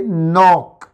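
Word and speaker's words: knock: तो रे जाइन रे जाइन इस तरह से के एन ओ सी के में अगर एन से पहले कहीं पर भी के आता है तो वो साइलेंट होता है। वोवेल इसमें एक ही है। इसलिए नॉक सी की साउंड भी का है।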